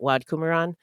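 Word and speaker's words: Wat Promkunaram: And the guy who did the research had somebody do the pronunciation for him, and they pronounced it Wad Kumaran. So that's how we're going to pronounce it too.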